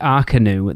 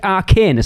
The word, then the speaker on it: Arcanus: And I just wanted to go, what do you think it's called? Like Le Cirque Arcanus? Because I'll be honest, that's what I called it the first time. And I had a certain Mrs. Digenova reach out to me and go, that's not how you pronounce it, sir.